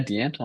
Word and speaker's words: D'Antoine: We take them to this is Banner's page with it looks like this is Dentoine's. Is that how you pronounce his Yeah, name? D'Antoine. Yeah, D'Antoine.